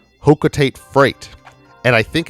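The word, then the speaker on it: Hocotate: community, because I guess the technical pronunciation is Hokotate, because in Super Smash Brothers for Wii U, I think it's Super Smash Brothers for Wii U, on the on Palutena's temple, sometimes Palutena will pop up and give Palutena's guidance, and she'll talk about the characters, and in that she pronounced it Hokotate.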